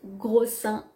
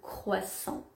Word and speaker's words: croissant: témoignage qui nous dit gros seins au lieu de croissant si tu vas à